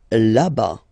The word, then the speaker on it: là-bas: Là-bas. Là-bas. Remember final S not pronounced.